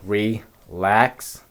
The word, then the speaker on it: ReLax: name bro yeah so our name um it's pronounced uh relax right yeah yes so the part re of